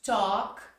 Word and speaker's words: talk: school falar com amigos talk to Friends Lembrando que a letra l a gente não fala aqui são as